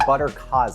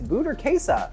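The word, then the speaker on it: burrata: And then she said buttercas. I'm like, it's bhasa. Learn your pronunciations. And then everyone who remade it said buttercaz. It's buttera. We've got some of that.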